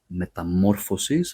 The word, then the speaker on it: Metamorphosis: Singular, Metamorphosis, so it's mo and then the plural is Metamorphoses, so it goes on the fo.